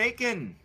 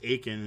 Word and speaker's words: Atkin: I know it's Atkin. Because it's Atkin diet thing. I thought it was Aiken, as in like the T doesn't exist.